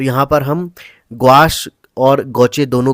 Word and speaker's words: gouache: तो हम यहां पर गोचे रंग इसलिए कह रहे हैं इसको क्योंकि यह फ्रांसीसी शब्द है और किसी भी टेक्नीक को अगर आप उसका प्रोनाउंस एशन अच्छे से करते हैं सही ढंग से करते हैं तो आप जो है उस टेक्निक को भी अच्छे से समझते हैं तो यहां पर हम